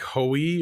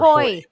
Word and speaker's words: Hoy: pronounced like hoey or Hoy. Hoy. Hoy. Hoy. Like Mhm. ahoy.